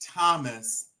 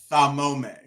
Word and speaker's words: Thomas: She pronounced Thomas Thamome. Exactly.